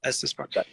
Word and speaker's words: Estes Park: Is it Estes Park? Is that how you say it? Yep, Estes Park.